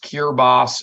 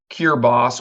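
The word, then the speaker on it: Kiritimati: three and a half hours uh to It's pronounced cure boss in their native tongue the language there is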